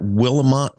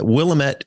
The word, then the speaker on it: Willamette: a professor at willemont Willamette University which is in Oregon which city is it in it's in Salem Oregon in the Capitol we call it Willamette uh and um and it rhymes with damage so let's say we